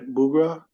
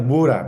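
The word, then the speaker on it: Buğra: I'm not pronouncing right bura yeah buah buah b b nice yeah bah is better uh hi my name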